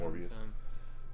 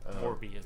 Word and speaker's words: Morbius: I was just rewatching that crappy Morpheus movie last night because Catherine hadn't seen it. Morbius. Morbius. It's yeah. Morbius.